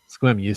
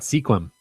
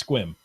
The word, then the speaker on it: Sequim: Now, sorry, how's that pronounced? Squim. Squim. So it's not Sequim. It's not Sequim. It's Squim.